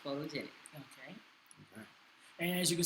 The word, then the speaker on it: PHOTOJNC: Instagram is at photogenic, PHOTOJNC, pronounced photogenic.